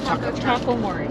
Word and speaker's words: Taco Mori: We went to Takamori. Or is that how you say it? Taco Mori. Taco Mori. So it's a play on words with Tobamori, and tacos.